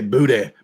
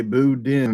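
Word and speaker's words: boudin: on a regular doggy say Buddha Buddha Buddha that's how they say it you can't say booed in men but when I went to the boo den festival in Scott Lewis an ax I say booed in that's a whoa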